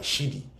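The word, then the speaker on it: Siddhi: It's spelled s i d d h i. s i d d h i. Siddi.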